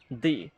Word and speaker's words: the: এবং THE এইটার পর আমরা যখন কনসোনেন্ট পাবো, সেই ক্ষেত্রে আমরা এটাকে উচ্চারণ করব দা হিসাবে।